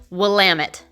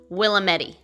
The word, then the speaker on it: Willamette: the portland waterfront is right on the willamette river that is pronounced willamette not willametti this is a great river that flows all